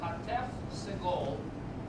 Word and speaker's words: hatef segol: Segol is usually an a sound. So it will have a hatef segol will be eh. Eh. That's half of segol.